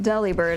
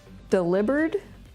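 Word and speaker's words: Delibird: happy although I think it's not pronounced Deli bird I think it's delivered is that right like delivered here's our other new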